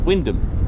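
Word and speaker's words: Wymondham: And it's Windom. There you go. So imagine coming from another country trying to land and do your operations and landing at uh you know Windom for example when it's spelled Wyundam. You probably get that absolutely wrong.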